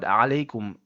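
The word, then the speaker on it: عليكم: As you can see, the word Alaikum, it starts with the Ain which comes from the middle throat. And a lot of people actually say the bottom one which is highlighted in red and they say Alaikum which actually starts with a Hamza. And the Hamza for the Makhraj of the Hamza is actually the bottom throat.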